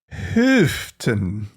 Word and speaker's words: Houghton: What's your pronunciation on that one? Houghton.